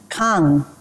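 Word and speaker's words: 강: bad CH yeah King it's pronounced Kong can you say it Kong Kong also means River like K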